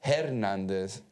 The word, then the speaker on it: Hernández: I remember porque para mí it was Historia, Hernández, Hermosa. I pronounced the H. When I tried the best I could, but nobody told me that the H era muda.